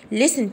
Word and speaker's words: listen: listen to stories، هنا حرف التي حرف سايلنت، وانا قلت لكم على الحرف السايلنت بكتب فيه صوت. listen to stories، listen to stories، يبقى اي حرف بكتب فوقيه حرف الصاد اعرفه على طول ان هو كده حرف صامت يكتب ولا ينطق. هنا بقول listen ما نطقتش تي.